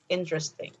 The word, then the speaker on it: interesting: you say this word i know it says in the rest thing but actually you only have to say three syllables interest things interesting and how about this